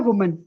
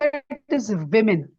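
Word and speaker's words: women: जब प्लूरल बहुत सारी गर्ल्स की, विमेन की बात होती है, तो वुमेन नहीं होता, इट इज विमेन, we main, विमेन। ठीक है, ये जो हम वुमेन कहते हैं ये प्रोनाउंसिएशन गलत है, इट इज विमेन, जिसका मतलब होता है बहुत सारी खवातीन।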